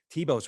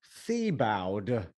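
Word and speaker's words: Thiebaud: like really blue Shadows Tebow's really hard to spell don't ask me how to spell it t h i e t h i e b-a-u-d t-h-i-e-tibo tip I would never go fee bowed yeah that's really I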